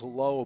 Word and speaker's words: Lau: His pronunciation is low, but sometimes it trips